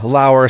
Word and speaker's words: Lauer: Ryan Lauer, spelled like lower, from the amazing Batman Book Club.